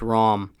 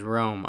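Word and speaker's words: Rhom: It's Rom and Geisha. There we go. Rom. I was right. I knew it. I knew it was Rom. Because some other person pronounced it as Rome.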